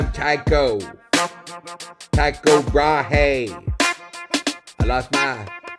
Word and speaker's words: Tycho: I'm Tycho Brahe, but in Denmark we pronounce it Tycho.